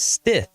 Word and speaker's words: Stith: stiff and stit but it's stiff just like it's spelled and if you have